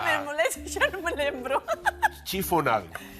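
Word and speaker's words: chiffonade: Chifonade. Chifonal. Sí, chifonade. Se escribe Chifonade. en francés non se lee, pero é chifonade.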